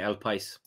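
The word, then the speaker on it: El País: spanish newspaper called el pa or patti hadroid pronounces p is it means the country el pais i'll play so the country there you go spanish newspaper called el pais have said the signing of darwin nunes is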